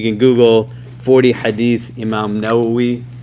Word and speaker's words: Nawawi: at right now the 40 Hadith of Imam noi we'll go a little bit more deeper into